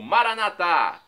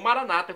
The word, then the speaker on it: Maranata: do aramaico Eu Clamo maranat como dizemos nós católicos ou Maranata como dizem nossos irmãos separados não importa a pronúncia o significado é o mesmo vinde Senhor Jesus um dia ele